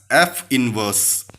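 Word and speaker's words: f⁻¹: an exponent of -1 and is pronounced as f inverse.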